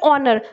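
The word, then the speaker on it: honour: पहले भी एन आएगा, और ऑनर, एच इसमें साइलेंट होता है और इसलिए से बोलते हैं ऑनर, तो इसलिए यहां पे भी एन लगाएंगे.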